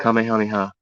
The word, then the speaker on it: Kamehameha: King Kamahaya, Kam Kamehameha. Dragon Ball Z, baby. Oh my god. Kamehameha. That's how you pronounce that. I know it's a tongue twister.